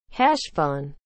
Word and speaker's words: Heshvan: what is the meaning of the word hash fun as a noun the second month of the